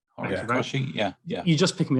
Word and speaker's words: Horikoshi: Can't pronounce the last word. Horikoshi. Thank you, mate. Horikoshi.